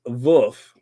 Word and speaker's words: Wolff: His name is pronounced Wolf. Okay, Wolf with a V sound.